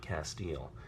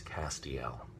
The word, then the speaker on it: Castiel: And I will say, no, it is not Castiel, it's Castiel. And that's very important, that on the page it is not immediately clear how the name Castiel is pronounced.